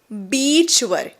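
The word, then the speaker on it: beach: बीइ ए सी एच याचा उच्चार काय आहे बीच बीच इथे बघा स्पेलिंग मध्ये आहे इ आणि ए म्हणजे तुम्हाला इ लांबवायचा आहे ओके स्माईल करून बोलायच बी बीच पण जर तुम्ही घाई गडबडीत शॉर्ट आयचा उच्चार घेतलात आणि बीच च्या ऐवजी जी तुम्ही जर म्हटलात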